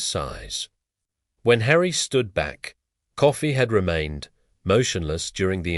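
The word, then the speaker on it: Coffey: Your name is Coffee. Yes, sir. Sir, boss, like the drink, only not spelled the same way.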